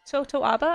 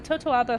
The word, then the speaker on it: totoaba: basically of of Toto totoaba I believe is how you say the fish um totoaba hunting and